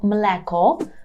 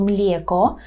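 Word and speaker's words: mleko: ми маємо млеко мелеко при вимові цього слова звертайте увагу на те щоб вас не звучало мєко тут на своєму курсі вже в бонусному уроці є студентом пояснюю чому не можна казати млеко так повинно бути млеко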